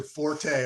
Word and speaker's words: Forte: Yeah, no question with regards to Forte or Fort, however you want to pronounce it.